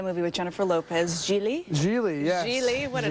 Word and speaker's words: Gigli: I know, that's the name that nobody can pronounce, so I'm not Well, sure it looks like it'll still have Jiggly, it you know, does, G-I-G-L-I. I know, so everybody says